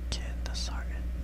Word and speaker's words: Candesartan: Candesartan. Can is kind of like Candace.